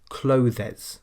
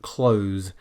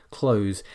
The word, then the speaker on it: clothes: The most common mistake people make is to pronounce it with 2 syllables, clothes, clothes, but we should never do this. Clothes is a single syllable, 1 syllable only.